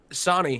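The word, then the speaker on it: Sonii: Am I pronouncing his right? Sonny, yeah.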